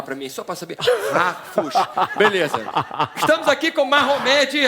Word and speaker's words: Harfouch: veio o sobrenome para facilitar, Harfush.